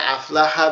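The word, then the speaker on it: أَفْلَحَ: হামজা ফা জবর আফ, লাম জবর লা আফলা হা জবর হা আফলাহা আফলাহা আফলাহা আফলাহা। এখানে আফলাহা বানানের যে মূল বিষয়টা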